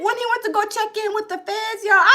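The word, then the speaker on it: Checc'n: I was like, Snoop Dogg made a check-in song? Y'all, the check-in song, and I thought it was spelled Check, but no, it's spelled Checc apostrophe N. Check in.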